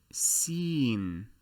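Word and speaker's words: سين: u-turn is the body this letter is called seen or seen and as you can see from here it is pronounced the same in the same manner you would pronounce the past participle form of the verb to be in english i have seen exactly the same if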